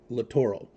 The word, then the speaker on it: littoral: Dietz Foundation littoral Commander argument on how it's pronounced literal or littoral the designer and people in the military obviously litoro all right this has